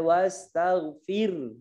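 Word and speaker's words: واستغفر: Wastaghfir. Tidak boleh wastaghfir, dimatikan, haknya hilang. Wastaghfir. Gitu ya bacanya.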